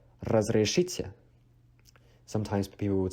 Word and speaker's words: разрешите: And for excuse me, this one is a tricky one if you cannot pronounce the trill. Excuse me in Russian is разрешите, разрешите.